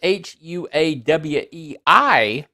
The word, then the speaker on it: Huawei: Huawei, which is spelled Huawei, but it's Chinese, so it's pronounced Huawei.